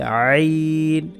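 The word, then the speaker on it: عين: এটার নাম হচ্ছে আইন, গলার মাঝখান থেকে, কণ্ঠনালীর মাঝখান থেকে, যেটাকে মাখরাজের পরিভাষায় বলা হয়, আরবিতে লেখা যে হলকের মধ্যখান থেকে।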